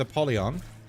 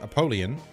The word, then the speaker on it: Apollyon: So I forgot that I unlocked the blue room yesterday, so if we can, my goal with Apollyon, or the way it's actually pronounced, Apollyon.